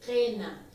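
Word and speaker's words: qina: Esta palabra se lee qena con E en lo oral y en lo escrito se escribe con la I.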